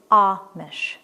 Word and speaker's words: Amish: And that first, the A, is not Amish, it's Amish. Number 2, it looks like toupee, but it's really toupee because it comes from the French.